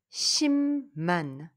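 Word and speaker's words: 십만: et ça se prononce shimman et pourquoi la lettre B suivie par la lettre N ou m se prononce M shimman shimman sa Saman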